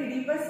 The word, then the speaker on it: Oedipus: इडीपस में ओ साइलेंट रहता है इसलिए हम लोग इडीपस इसको प्रोनाउंस करते हैं.